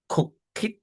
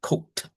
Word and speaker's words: cooked: We do not say cook it, but this is cooked.